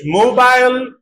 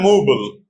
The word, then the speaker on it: mobile: For example, British mobile, American mobile, or American also mobile, two possibilities.